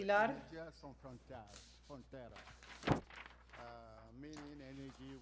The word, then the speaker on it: Pilar: Pilar from Energy Son, let me pronounce it correctly. Pilar.